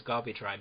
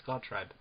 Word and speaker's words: Gawtrybe: When I saw it as a kid, I always read it as Gawtrybe, but no, it's Gawtrybe. Huh.